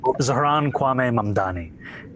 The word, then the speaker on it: Zohran Kwame Mamdani: Zohran Kwame Mamdani.